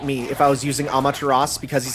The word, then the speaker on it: Amaterasu: Well, this is the first time I learned you don't pronounce the U, because yeah, I always just put it in there, right? But it's like, nope, you don't use that.